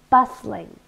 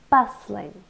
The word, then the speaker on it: bustling: so let's get started bustling so two syllables and we stress the first one bustling it's an adjective and